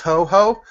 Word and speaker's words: Toho: It's pronounced Toho, and it's coming to the West finally.